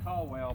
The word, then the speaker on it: Caldwell: And one of those is, you say Caldwell, but I think they pronounced it Cowell.